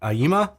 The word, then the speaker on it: Aiyima: class D amplifier this I'm probably not going to pronounce it right it's a i y i m a I'm going to say Aima hope I'm getting that right a07 Max was sent